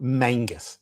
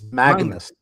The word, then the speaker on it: Magnus: It's not It's not Mangus, it's Magnus.